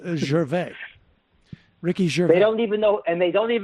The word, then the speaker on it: Gervais: way Ricky Gervais is I'm pretty sure it's Ricky Gervais he doesn't pronounce maybe he's on the lam I don't know but it's Gervais Ricky sure they don't